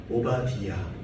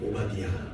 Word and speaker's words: 오바디아: 오바디아 이렇게 되어 있어서 그렇게 발음하면 됩니다. 오바디아.